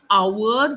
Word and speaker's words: hour: so here in our the H is silent so the word starts with an o sound are therefore you use